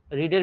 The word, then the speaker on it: read: এবার ভি3 কি, রিডের ভি3 রিডি, উচ্চারণ রেড বলবো কিন্তু বানানো একই, বাই রাম, এসে এদিকে রামই হবে।